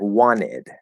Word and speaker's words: wanted: at the same time and it sounds like wanted okay that would be a stop d